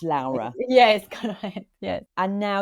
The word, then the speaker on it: Laura: gonna say sorry it's it's spelled Laura but it's pronounced Lara yes corre yes and